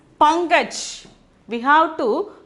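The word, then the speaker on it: पंकज: For that, we have to pronounce this as pankaj.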